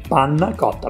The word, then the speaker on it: panna cotta: Today I'm going to share with you how to make panna cotta. It's an Italian dessert. It sounds complicated, but it's so easy. I like your pronunciation. Panna cotta.